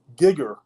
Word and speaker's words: Gyger: And the spelling at that time was GYGER. And the Y would have had the sound of like a short I believe, like an it. So it would have been more of a gigger sound, if you would.